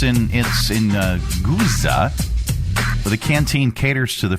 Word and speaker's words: Guizhou: I completely got it wrong. Guizhou. Guizhou? That doesn't, if you try and do it phonetically, that doesn't look... Guizhou. Okay, thank you. She's irritated. So it's in Guizhou.